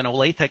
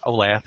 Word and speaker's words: Olathe: I'm at Mid-America Nazarene, which is in Olathe, Kansas. That is how you say that. We hear a lot Olathe if you haven't been here before, but we're in the Kansas City area.